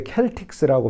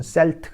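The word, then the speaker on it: Celtics: 켈 픽스 예요 그런데 켈틱 쓰라고 발음하지 않고 미국에 건너와 서는 켈트 이름은 셀트 가 됩니다 그래서 사이트 x 유명한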